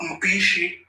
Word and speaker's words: Mpichi: Now that guy name is Mpichi. That is the right pronunciation, meaning horn of head.